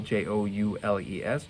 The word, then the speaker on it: joules: joules is the unit for energy to spell j-o-u-l-e-s joel's we pronounce it joules now i just want to